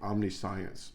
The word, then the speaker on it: omniscience: omniscience or omniscience uh Thomas Clary pronounced it omnis science so we we pronounce it that way out of respect he